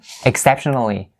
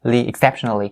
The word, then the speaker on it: exceptionally: Like I said before, I missed the li sound here. Li, exceptionally. It's supposed to be an adverb. It's not an adjective, so you have to add the li, ending part here.